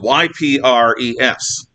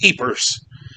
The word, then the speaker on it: Ypres: It's spelled Y-P-R-E-S. When I was a kid, I thought it was Ypres. I think the Belgians actually call it Ypres. But I've heard it, and I'm going to call it Ypres, which is what I think it is.